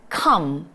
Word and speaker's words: come: 우리 발음 정말 제대로 해보도록 할게요. come.